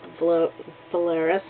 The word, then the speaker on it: Valeris: Kim kral who played uh the Vulcan Lieutenant valeris there we go said it right and well